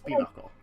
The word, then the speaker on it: pinochle: spell it that's uh it's like pinot chol it's pinocchio yeah p neutral is what it looks like and it's pinnacle that's hot it's like